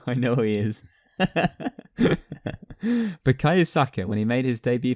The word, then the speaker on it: Bukayo Saka: Who was younger, Bukayo Saka? Oh, sorry, I don't know why I said his name wrong. I know who he is. Bukayo Saka when he made his debut for Arsenal, or